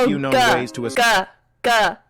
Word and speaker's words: Volga: There are a few known ways to Volga with a G. Hard G sound. Like in ground.